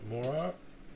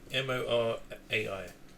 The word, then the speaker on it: Morai: God, I can't even pronounce it. Morai? M-O-R-A-I. Morai.